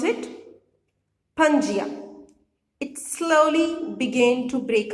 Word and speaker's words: Pangaea: supercontinent was known as Pangaea how you will pronounce it Pangaea it slowly began to break apart into seven